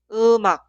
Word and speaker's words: 음악: Se pronuncia 음악, 음악. En la pronunciación, la consonante final mium se traslada en el lugar de ing.